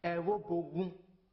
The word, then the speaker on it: Evbuogun: The name for Evbuogun, that one no be the correct name. Evbuogun na it be the correct name wey dem dey pronounce.